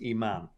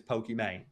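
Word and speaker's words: Imane: yelling at me about i know that it's supposed to be her name's iman i think she's from like tunisia or something everyone mispronounced it as pokemane anyway it's like a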